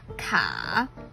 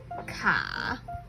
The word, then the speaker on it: 卡: And when you put 上 and 下 together, it's 卡, stuck in between, neither up nor down. It also evolved to mean car. And it sounds very like 卡, and car.